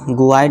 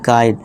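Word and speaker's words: guide: अब यू को साइलेंट कर देंगे। तो इसे हम करेक्ट प्रोनंसिएशन क्या देंगे? गाइड गुड नहीं गाइड। यू को साइलेंट कर देना है। समझ लीजिए यू है ही नहीं।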